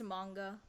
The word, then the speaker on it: manga: I know people get angry at me when I pronounce it wrong and I don't know what the right pronunciation is. It's manga.